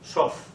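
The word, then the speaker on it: סוף: literalmente y de hecho la palabra su que aquí la tenemos en hebreo una s una u una B y una p final y las mismas letras las mism letras pronunci de otra manera sof y sof significa límite frontera entonces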